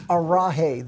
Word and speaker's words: Arhei: It's arahi. The J is like an H.